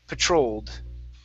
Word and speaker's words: patrolled: Okay, our stress is here at the middle. Okay, so patrolled.